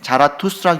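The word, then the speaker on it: Zarathustra: 그런데이 조로아스터라는 것은이 헬라어식 그 헬라어식 그리스인 그런 그리스 발음 그런 쪽이고 그들의 본토 발음으로는 자라토스트라입니다.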